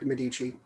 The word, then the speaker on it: Medici: And Dylan Medici, is that how you spell it, Dylan, or pronounce it? Oh yeah, that's right, Medici.